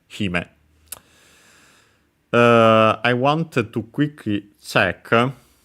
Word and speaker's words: hime: Actually, accent on the first syllable, so hime would be. Yeah, it is. I've heard it also the other way, but yeah, no. Technically, the accent should be on the first one, so hime.